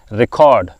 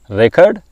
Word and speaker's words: record: should read this or pronounce this record when you use this word as a verb so you should then pronounce it record as a noun record as a verb record do not read selected printed